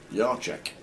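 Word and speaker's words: Yachek: Yashek. Yek. I like that. Thank you very much. Hercules PTP is pronounced Yek.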